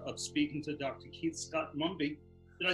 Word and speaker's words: Scott-Mumby: had absolute pleasure of speaking to dr keith scott mumby did i say it right correct yes now